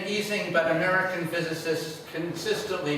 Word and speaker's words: Ising: hans e singh right as a german he pronounced his last name easing he was a graduate